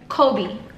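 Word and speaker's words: Coby: It's his favorite basketball player, so it's still pronounced like his favorite basketball player, just spelled different, and it means protected.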